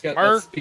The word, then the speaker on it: Mercane: That's Mercane. spelled like Merca.